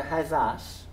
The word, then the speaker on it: hethas: And here we have hezes going to hezas, rhyming with bras, big.